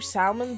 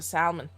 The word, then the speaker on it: salmon: always pronounce the ellen salmon i'm not going to stop i just want to know how it's supposed to be pronounced isn't the l supposed to be silent and i don't care